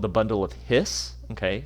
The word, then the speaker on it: His: called the bundle of His okay so you pronounce it his like a snake his um and this is